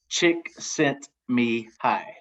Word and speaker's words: Csikszentmihalyi: Chick sent me hi. Chick sent me hi. Yeah, chick sent me hi.